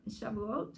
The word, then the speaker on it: Shavuot: And Shavuot Shavuot.